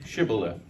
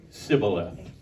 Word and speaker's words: shibboleth: would say to him then say shibboleth and he would say sibboleth for he could not pronounce it right then they would take